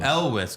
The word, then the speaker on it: Elwes: Elwes. Elwes.